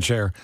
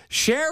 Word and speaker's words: Sherr: Nobody knows no more about the coolest things in electronics than Ian Sherr. Sherr or Sherr? Somebody told me I keep mispronouncing your name. It's okay. Most people do. It rhymes with her, so sure.